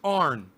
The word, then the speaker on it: Aron: r a aren't raw it's like aaron but it's pronounced arn a r o n